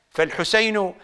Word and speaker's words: الحسين: كنت تتحدث مع الحسين فالحسين حاء سين ياء نون اما ان تسرع في اللفظ فلا اشكال في ذلك ذلك ذلك ولكنك تلفظ اللفظ الصحيح فلا اشكال في ذلك البعض